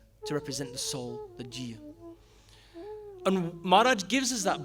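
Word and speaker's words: ਜੀਅ: So in the Taksali way of thinking in that school of education, we pronounce every letter that we see. So in this instance, we would say Jeea.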